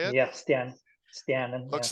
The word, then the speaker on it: Stjernen: Yeah, that's in Stjernen, in my hometown club. Stjernen, is that how you say it? Yeah, Stjernen, yeah.